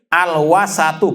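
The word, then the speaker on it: الوسط: Disebut dalam kamus Misbahil Munir, al-wasatu, bacanya dengan al-wasat, diharokati semua.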